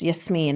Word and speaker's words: Yasmin: It's Yasmine in Arabic.